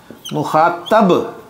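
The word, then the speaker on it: مخاطب: मुखातब, नॉट तिब, ठीक है। मुखातिब होता है खिताब करने वाला। मैं आपसे मुखातिब हूं, आप मेरे मुखातब हैं, ठीक है।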